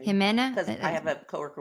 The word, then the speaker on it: Jimena: Jimena.